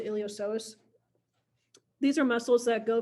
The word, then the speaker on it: iliopsoas: the iliopsoas so the the p is silent on here so you pronounce the iliopsoas these are muscles that